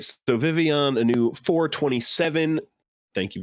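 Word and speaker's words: Vivillon: lot of love for vespa queen so uh vivion a new 427 that is definitely how it's supposed to be pronounced um in the japanese it's a y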